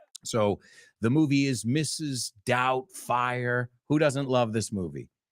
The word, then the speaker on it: Doubtfire: Doubtfire. Who doesn't love this movie? Mrs. Doubtfire. I doubt there's anybody here who hates this movie. I doubt. Okay. La B no se pronuncia. No es Doubtfire.